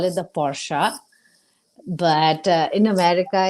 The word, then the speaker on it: Porsche: If you want to stick to the original way, it's Porsche. But Porsche is also fine. Anything else is not the right pronunciation.